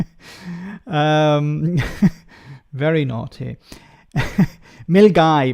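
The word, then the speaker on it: Milngavie: absolute disaster uh my mom is in um milave I I think some people are writing the these names because uh they're trying to get me to mispronounce um very naughty mil guy mil guy uh start of the the West uh West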